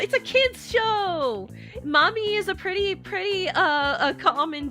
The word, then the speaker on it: Mami: It's not spelled like mommy. It's M-A-M-I mommy.